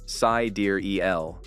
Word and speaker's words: sidereal: Dark represented the unknown, and sidereal, pronounced sidereal, was a nod to the stars, a perfect blend of technology, mystery, and the cosmos, basically peak Musk.